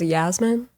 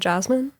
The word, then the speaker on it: Jasmine: Wait, did you say her name as Yasmin? Is it Jasmine? Oh, I always do the Persian pronunciation cuz that's how I grew up.